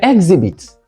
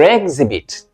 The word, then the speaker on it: exhibit: 20 option A I hear exhibits I hear exhibits for instance where is your exhibit wrong here sometimes I hear ambivalent or Ambi